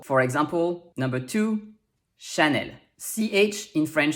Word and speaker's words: Chanel: sounds like shi also e l at the end of a french word will be pronounced l even if there's no accent on the e there's a standard in